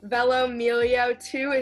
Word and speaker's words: velomelio2: guys it's lauren and today i'm here interviewing velomillio2 is that how you pronounce it yeah this is a group account